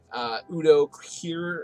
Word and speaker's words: Udo Kier: Udo Kier, I believe is how you pronounce his name, is a very, very cool actor.